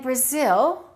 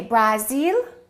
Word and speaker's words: Brazil: With Japan and Brazil, the first syllable is reduced and the second syllable is stressed.